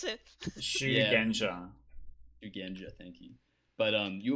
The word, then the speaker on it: Shugenja: If the Pointing, pronunciation incorrect, Kif, you can correct it. yeah, Shugenja.